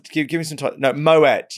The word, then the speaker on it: Moët: No, Moet. You do actually say Moet. You don't say Moët.